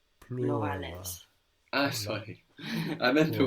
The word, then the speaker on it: plurale: And the U is like U. Plurales.